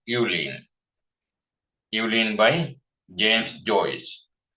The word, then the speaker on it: Eveline: Some people pronounce this name as Eveline or like that. It's okay. Since it's a name, anyone can pronounce their own. But correct name is Eveline.